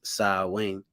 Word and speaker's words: Samhain: tradition in modern times samhain a gallagher word pronounced sa wing is usually celebrated from october 31st to november